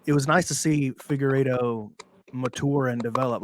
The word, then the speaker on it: Figueiredo: But I do feel that Figueiredo, how would you pronounce his name again? Figueiredo.